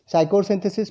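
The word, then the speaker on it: Pschorr synthesis: The next सिंथेसिस इज़ साइकोसिंथेसिस पी पी यहां पे silent है।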